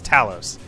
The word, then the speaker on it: Talos: dude like how how would you pronounce that it's spelt literally the same its Talos it's never gonna be anything else maybe you